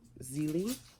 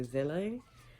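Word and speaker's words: Zélie: I think it's Zelie, but I always want to say Zele, but I think it's Zelie.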